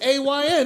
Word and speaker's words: Ayn: I never seen Ann spelled like that. It's A-Y-N, isn't it? yeah. I thought it was and. Oh, it's Ayn Rand?